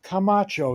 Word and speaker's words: Camacho: in from my guest in this case Melissa Camacho is that pronounced correctly yes uh who is the senior